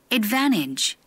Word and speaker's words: advantage: 어딜 봐도 T 발음이 안 난단 말이죠? 그런데 여러분이 한번 발견을 해보세요. 우리가 이게 너무 외우는 것만 하면 안 돼요. 영어도 발견 학습이 가능한 분야입니다. 이 부분, T 앞에다 뭐가 있어요? 앞에 N이 있죠. 그래서 규칙화하자면 N, T가 있으면 N, N이 된다. 이렇게요.